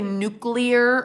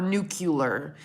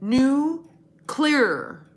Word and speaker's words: nuclear: do you guys say nuclear or nucular if you say nucular I want you to know it's actually pronounced nuclear like nucleus like new clear not nuclear that's not